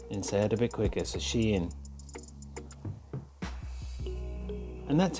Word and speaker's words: Shein: come out and said the way to pronounce this word is she in so separated into two so she in instead a bit quicker so she in and that's how you